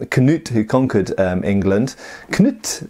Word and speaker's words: Knut: And then of course we know that people like Canute, who conquered England, Knut I believe it's pronounced in Danish rather than Canute as we say in England and America, and he of course